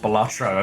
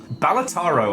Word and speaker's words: Balatro: little supercut of all the different ways I've pronounced Balatro over the last, like, year. Balataro, I think, was my favorite.